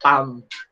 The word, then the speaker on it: palm: so that is one pam pam silent L po pala hindi pala palm palm silent L so Yan po y